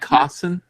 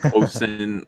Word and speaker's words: Cosson: Matt Cosson, is it? Yes. Good. Yeah, you pronounce it right on the dot. Well, I just imitated Mike, so I was just checking to make sure. At first I said Cosin.